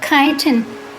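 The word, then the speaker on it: chitin: they have a vestigial shell inside made of kiten which is spelled c h i t i n often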